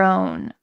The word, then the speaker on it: own: What's happening to the W? Own. It's not very clear. This word is not on, O-N, so we're not forgetting the W, but we're not saying